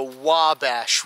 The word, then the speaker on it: Wabash: can see here behind us is the mighty wabash river am i pronouncing that correctly okay now i remember it's the wabash river so here the wabash river is one